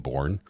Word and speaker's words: Bourne: And Bourne, just like it sounds, B-O-U-R-N-E. The E is silent, though.